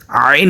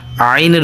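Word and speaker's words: عين: ত জ আইন আইন হলকের মধ্যখান থেকে যেভাবে আমরা হা উচ্চারণ করেছিলাম সেভাবে আমরা আইন উচ্চারণ করব হলকের মধ্যখান তথা পুরুষের গলার ভাঙ্গা থেকে আর মহিলাদের গলার মাঝখান থেকে আইনের উচ্চারণ হবে একটু প্র্যাকটিস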